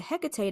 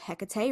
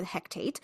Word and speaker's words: Hekate: Then we have the movie that introduces this resurrection lore, mispronounces her name, so we think, right? The Hektate.